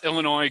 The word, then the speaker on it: Illinois: Craig So next we're going to move on to Illinois Ghost. See, I said it right that time. I didn't pronounce it with the S, guys.